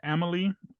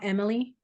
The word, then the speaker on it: Amélie: So, and it's called Amélie. Amélie. It's spelled Amelie. Oh, like the arena.